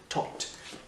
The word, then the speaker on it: talk: Alors juste, tu entends bien que le L, je ne prononce pas depuis tout à l'heure, c'est talk. Le L ne se prononce pas, talking.